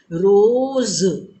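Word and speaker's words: रोज़: देखो बच्चों, यहाँ भी नुक्ता आया तो इसके उच्चारण में मैम ने कैसे उच्चारण किया? रोज। अगर हम ऐसे साधारण ज उच्चारण करते तो ज में हम उस तरह से नहीं बोल रहे हैं जैसे हम ज में बोल रहे हैं।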